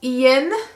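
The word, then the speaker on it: Ean: fashion then we have ian who is spelled e-a-n some guy named fox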